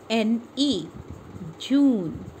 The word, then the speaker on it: June: June, J-U-J-U-N-E, June. E is silent over here.